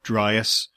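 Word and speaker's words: Dryas: to rewind very slightly you mentioned the younger driest boundary event just in case listeners don't know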